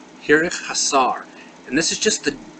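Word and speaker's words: חיריק חסר: Our next letter is a long I, and this is called the hirik hasar. Hirik hasar. And this is just the dot underneath the vowel. It is pronounced E.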